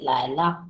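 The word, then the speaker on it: 累: বাড়িতে ফিরে ওয়াচান পাথা লাইলা লাইনা লেভ এল ই আই এটা লে উচ্চারণ করে লেই হোয়াইলা লেয়লা ওয়াচ আমি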